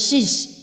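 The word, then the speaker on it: seize: ya yang pertama itu tu nulisnya siij Tapi bacanya Sis itu artinya menangkap merebut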